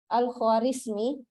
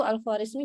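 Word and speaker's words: Al-Khwarizmi: ini Al Khawarizmi ya Nah kalau orang Barat itu membaca nama Al Khawarizmi ini seakan-akan Dia membacanya begini algoritsum gitu algoritsum Al Khawarizmi kan orang barat tidak terlalu tahu bahasa Arab toh jadi cara baca namanya itu alfarizmi jadi algoritsum nah sehingga dari kata algoritsum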